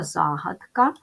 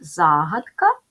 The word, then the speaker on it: загадка: увагу Ось на що слово загадка в українській мові може мати два наголоси загадка або загадка запам'ятайте як правильно вимовляти та писати це слово